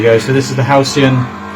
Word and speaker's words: Halcyon: Halcyon. Halcyon.